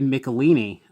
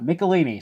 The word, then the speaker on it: Michelinie: research his work this is also early david michelinie writing this which obviously I've read a lot